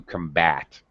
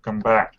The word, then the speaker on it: combat: And also the verb down here, a little clue, most two-syllable verbs, the stress is on the second syllable, to combat. To combat.